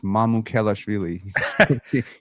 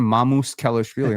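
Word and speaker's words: Mamukelashvili: Matt Devlin, if you ever watch this, it's Mamou Khelashvili. You kept calling him Mamou's Khelashvili. I'm like, where did this extra S come from?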